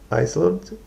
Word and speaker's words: island: The shape of the island emerged. Island. Island. That S is silent on it.